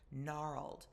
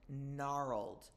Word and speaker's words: gnarled: Gnarled. The G is silent. Gnarled.